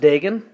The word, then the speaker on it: Degen: and so it is it pronounced diggin yep okay and never knew that I've always said vegan as well well we'll have to